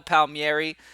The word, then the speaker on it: Palmieri: downfall works out tonight we'll see but Kyle Palmieri um that's how you say his name by